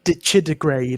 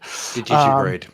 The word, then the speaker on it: Digitigrade: Yeah, it's digidegrade or something like that. I could never pronounce the word. Digitigrade. Yeah. That's it.